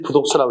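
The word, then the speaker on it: 不讀書: 이때 불로 읽지 않고 그때는 디귿이나 지읒 앞에서는 부로 읽어. 그러니까 이를 부독서라고 읽어.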